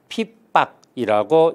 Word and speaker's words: 핍박: 피입자의 닥칠박자라고 말을 합니다 닥칠 핏 닥칠박 핍박이라고 읽습니다 핍박 그래서 여튼 핍박이 심하다